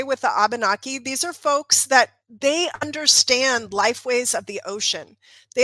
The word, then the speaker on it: Abenaki: Abenaki.